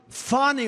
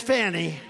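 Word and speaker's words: Fani: fonnie well it's now even though it's I believe it's spelled f a ni I to my way of thinking that's Fanny but when she became the district attorney I think she put a little emphasis on the you fonnie so corrupt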